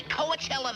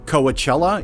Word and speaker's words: Coachella: direct me to the shortest route to the Coachella Valley and the big carrot festival, therein? - Incidentally, if you meet someone who pronounces it "Coa-chella" instead of "Coachella," that's why.